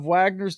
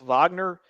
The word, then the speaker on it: Wagner: an apparent reflection of Wagner's deployments to Syria and several African countries yep and I think I think it's pronounced Wagner but I'm an American so I say Wagner as well yeah yeah I'm gonna